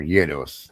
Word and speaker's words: gyros: I won't, it's not the first thing I would get, but Arby's makes their gyros or yos. Yet is how you pronounce it.